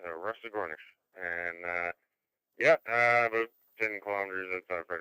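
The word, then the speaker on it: Rusagonis: It's Rusty Gornish. And that's the local pronunciation, Rusty Gornish.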